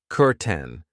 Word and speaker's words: curtain: Over here we have a curtain. Be careful of the pronunciation. I know it looks like curtain but we pronounce it curten.